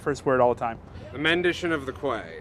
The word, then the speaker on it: The Mendition of the Quay: I mispronounce the first word all the time. The Mendition of the Quay. Mendition of the Quay.